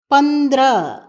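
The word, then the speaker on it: पंद्रह: ஹாவை கட்டாயம் எழுத வேண்டும் ஆனால் உச்சரிக்கும் பொழுது பந்திர என்று ஹவை அடக்கமாக உச்சரிக்க வேண்டும்.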